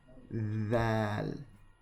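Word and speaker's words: د: Again, you want your tongue to come right here beneath your front teeth. Dal.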